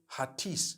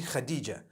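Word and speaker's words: Hatice: I came across the name Khadija. In Turkish, some people spell it H-A-T-I-C-E. I would say Hatis for that. No, it's actually Khadija. In Turkish, that's the way they write it.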